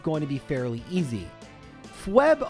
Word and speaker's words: Phoebe: to be fairly easy FB on the other hand or Phoebe as some people pronounce her name wrongly is going to be